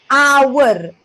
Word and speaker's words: hour: ah good Silent Age we say how no we say it as hour this is called a silent h what is the next